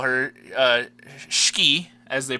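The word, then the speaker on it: Shiki: crew our tsundere Scooby as I call her ski as they pronounce it in Japanese which always throws me off because it's cheeky as I would read it but whenever I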